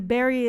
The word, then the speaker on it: Bury: And then Berry is like the local pronunciation of it. So the berry St. Deadmond Berry is how people um in the present time of Carile are pronouncing it.